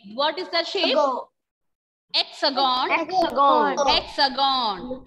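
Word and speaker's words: Hexagone: Ma'am, for the hexagon, the last N is silent or not? L is not silent. Okay, ma'am. Because after that N there is E. So we can pronounce that N.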